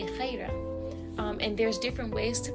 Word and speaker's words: Khairah: It's actually not pronounced Khairah. That is I call it the American way or the easy way to pronounce it, but it's actually Khairah.